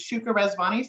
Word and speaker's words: Shuka Razvani: of the board members my name is Shuka razvani so you you pronounced it exactly right and I'm the principal